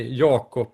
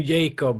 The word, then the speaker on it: Jacob: if you if you pronounce it in the right way in Swedish you say yob Nan yob yob yob